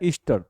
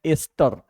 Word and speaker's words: ester: नहीं, ईस्टर देखिए, हम बोलते हैं इसको क्या है, ईस्टर, लेकिन एक्चुअली उच्चारण क्या है, एस्टर।